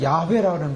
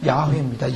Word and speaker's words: 야훼: 원래는 야훼라는 발음을 씁니다. 근데 그것을 이제 우리나라 말로 번역한 것은 여호와라는데요. 오리지널로 발음하면 야훼입니다.